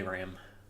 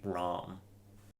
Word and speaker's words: Ram: I think you meant to pronounce it in a more Japanese sounding way, so it would be Ram. not ram. Like the animal.